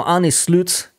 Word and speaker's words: Arne Slot: Now, Arne Slot, apparently that's how you pronounce his name, looks likely like he's going to be the next manager.